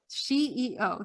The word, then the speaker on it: SheEO: Am I Oh, pronouncing SheEO. SheEO?